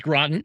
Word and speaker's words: Groton: So glad to be here, and I appreciate that you pronounced our town correctly. Right. But it is Groton.